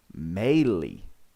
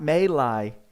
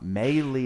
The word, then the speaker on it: Mayly: on who you can see on the screen melee everyone not may lie i'm here i'm sorry i'm here to correct you all on how to say it uh melee is actually the proper pronunciation tweaks i don't